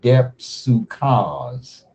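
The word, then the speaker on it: δίψυχος: Now, what the Greek term here for double-minded is 1374, and I think you pronounce it depsukaz. Depsukaz. It's DEP dash SOO then dash KHOS, and it says two spirited.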